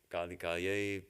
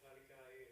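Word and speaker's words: कालिकायै: So, Kalikayai, that all 4th case ending. Some people do it Kalikaye, right? Is that right? Kalikayai. Okay, yes, subtle differences in pronunciation, Sanskrit pronunciation.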